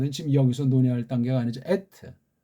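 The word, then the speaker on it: אֶת: 에트. 이걸 그러진 않아요. 받침이 없다니까. 우리말 빼고는요. 그렇게 안 해. 에트라고 한다니까. 의자도 없으면서 에트. 그러니까 에트 이렇게 우리가 좀 확실하게 발음 못하고 에트.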